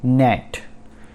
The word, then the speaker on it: gnat: तो पहला जो वर्ड है वो है नेट। नेट, जी साइलेंट है यहाँ पर, GNAT, नेट।